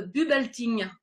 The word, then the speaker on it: Bubbleting: Vous êtes cofondateur de Bubelting. Je le prononce à peu près bien, ça va?